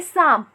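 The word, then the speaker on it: साँप: तो सा के बाद जो आधे न का उच्चारण कर रहे हैं वो करते वक्त ध्वनि मुंह के साथ साथ नाक से भी निकल रही है, इसलिए हम सा पर चंद्र बिंदु लगाएंगे।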